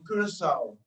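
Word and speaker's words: Curaçao: Milton Coy; from Curacao, I say the Dutch pronunciation, Dr.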